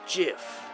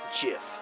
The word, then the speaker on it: GIF: It's pronounced GIF. Huh? Dot GIF, like the peanut butter. The creator said so.